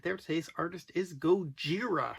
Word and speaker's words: Gojira: there today's artist is goira which is the Japanese pronunciation of Godzilla so this is a